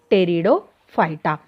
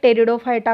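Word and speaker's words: Pteridophyta: आणि थर्ड राहणार आहे टेरिडोफायटा. इथे टेरिडोचं स्पेलिंग टी पासून सुरू होतं आहे की पी पासून. मग इथे टेरिडोफायटा काय प्रोनाउन्सिएशन आहे, पी इथे काय आहे लपलेला आहे, सफिक्स आहे, इथे थोडंसं लक्षात घ्या.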